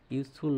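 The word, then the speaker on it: useful: এরকম যদি প্রনাউন্সিয়েশন উচ্চারণটা হয় ওয়াই ও ইউ, তাহলে কিন্তু এন বসবে না, এখানে এ বসবে।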